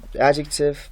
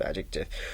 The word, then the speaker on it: adjective: they say adjective adjective they pronounce the d with it while d is silent here d is not pronounced